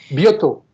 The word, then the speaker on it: Boitou: de hoy nos acompaña Pierre-Marie Boitou, espero haberlo pronunciado bien. Bioto. Bioto, ok.